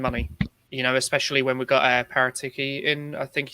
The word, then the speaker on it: Paratici: going to spend money, especially when we've got Paratiki in, I think he said is how it's pronounced. Especially when you kind of got Paratici, sorry.